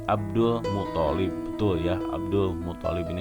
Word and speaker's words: Abdul Muthalib: Jadi kakeknya Abdul Muthalib. Ya, ini yang betul ya. Saya barusan ada kesalahan pengucapan.